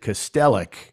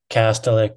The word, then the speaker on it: Kastelic: And my co-host swears that he pronounced it Kastelic, and that you're pronouncing it differently.